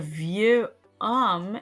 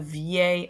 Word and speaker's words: vieil: Now, the reason I don't say un vieux homme is because homme starts with an H, which is called an H muet in French. So I would have to not say un vieux homme, I would say un vieil homme.